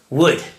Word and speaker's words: would: decided to talk about the modal verb would pronounce like the material would and uh is the